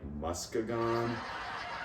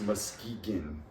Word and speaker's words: Muskegon: road trip in Michigan, I was like, Muskegon? And they're like, no, it's Muskegon.